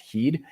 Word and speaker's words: HEED: this electrolyte solution called heed it looked like head but it was actually pronounced heed and i took like